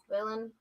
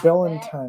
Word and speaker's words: Billington: It says, yeah, you say Billin and then ton. Oh, like separate. No, I mean Or they're like together. That's how you pronounce it.